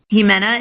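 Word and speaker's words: Ximena: kala velakis join us which is which is a tongue twister jimena is spelled x IM ena you can find them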